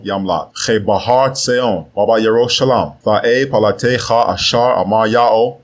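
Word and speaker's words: ירושלים: In Mount Seon and in Yerushalayim, which are mispronounced as Zion and Jerusalem, will be deliverance, as Yahweh has said.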